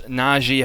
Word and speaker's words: Najee: the ball so they get the ball back najee harris naji harris how he pronounced his name he is going to be